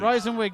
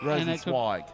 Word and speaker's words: Rosenzweig: Rosenwig now. Rosenwig, a little bit too high. Not. Rosenzweig, actually. What, I'll pull you, since everyone else is pulling you up on pronunciations, it's Rosenzweig.